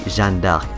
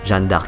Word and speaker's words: Jeanne d'Arc: or Joan of Arc, but the actual pronunciation of her name is actually Jeanne d'Arc. And you can take my words for it because I am French as well, and this is how we say her name, Jeanne d'Arc.